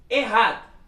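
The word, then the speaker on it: Echad: O CH no hebraico, ele tem um som de um R bem forte.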